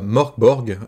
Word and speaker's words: Mörk Borg: On parle de Morkborg. Et déjà, ma première question, c'est est-ce que je le prononce bien?